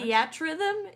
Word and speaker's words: Theatrhythm: in video games this week, we have that Final Fantasy music game whose name I'm not going to try to pronounce. Theatrhythm is so far our Theatrhythm?